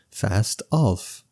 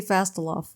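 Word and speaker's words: Fastolfe: the L why is the L silent there's a very famous person with the mustache Who Shall Not Be Named who has a very similar ending to his name that could really help you pronounce it fast off fast off ol uh-huh okay oh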